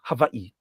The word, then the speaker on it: Hawaii: And then up north, what we call Hawaii, properly pronounced, havi.